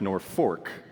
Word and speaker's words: Norfolk: Fork so fun fact town spelled like Norfolk Virginia but we learned that it is pronounced North Fork it is originally named